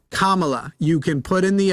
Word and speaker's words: Kamala: yes she did and by the way Matthew the next time you say Camala you're done she gave her response the next time you say Camala you are done Kamala you can put in